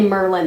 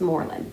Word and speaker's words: Moreland: Some people say Merlin. I don't know why they pronounce it like the magician, but if it's pronounced like the magician, I apologize to anybody who lives there. Nobody's corrected Ryan when he says Merlin, but I've been told it's Moreland. So it's spelt like Moreland.